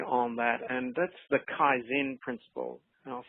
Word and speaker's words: Kaizen: And there's one other thought I'd like to share with everyone today on that, and that's the Kaizen principle. And I'll spell that for you.